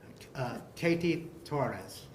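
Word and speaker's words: Kety Torres: that please say your name k Tes Katie Torres can you spell it for um put it letter k e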